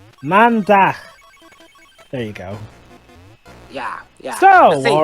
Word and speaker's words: Maandag: You're acting very, very, very random today, but anyway, Dutch for Monday is Maandag. Though you're pronouncing it wrong, it's Maandag. Maandag.